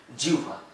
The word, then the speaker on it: জিহ্বা: ভুল হয় অভ্যস্ত না এই যে জিউটা জিহ্বা না কিন্তু শব্দটা জিভা আপনারা শিখুন সুন্দর করে